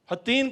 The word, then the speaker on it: حطین: رمضان کا مہینہ تھا۔ حطین کا علاقہ، دونوں طرح اس کے تلفظ کیے گئے، حطین بھی اور حطین بھی، یہ اس علاقے میں